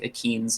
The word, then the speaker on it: achene: I used to be an archaeobotanist, so it's a little pun about like akeens, like sunflower seeds.